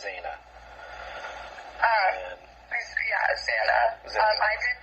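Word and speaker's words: Xana: her name's pronounced Zana.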